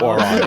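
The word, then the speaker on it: Auran: Elvish giant gnomish Goblin halfling orc Abyssal Aquin oron uh Celestial draconic deep speech ignan infernal primordial Sven tan and undercommon are all choices I'm sorry what's one of those I heard too yeah oron it's like I'm sorry I don't speak [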